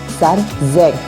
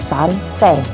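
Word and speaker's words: 三千: Untuk 3000 kita menggunakan sanzen, bukan sansen.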